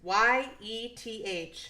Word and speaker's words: Yeth: There's Yethhound. Yifhound? It's Yeth.